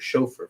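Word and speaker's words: שופר: shawapar, which comes from, that's where you get the word shofar from. That's what they say with the Yiddish, but it's pronounced shawapar or ram's horn.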